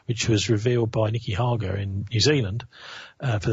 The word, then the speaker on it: Hager: Nicky Hager. Nicky Hager, H A G E R, pronounced like lager.